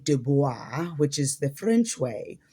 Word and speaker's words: Du Bois: is that dubois did not actually say his name as dubois. He actually said it as dubis or dubis. Uh dubis. Yes. uh very different than what most of us um are accustomed to saying. So not duba but dubis dubis.